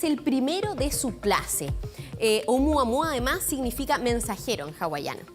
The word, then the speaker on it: Oumuamua: Es hawaiano. A ver. A mí también me costó un poco, pero es Oumuamua.